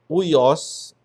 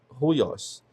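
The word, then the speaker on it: υἱός: Já a aspiração forte ou áspera você pronuncia com o som aspirado do H do inglês, house. Então aqui não é uios, é ruos. Ruios.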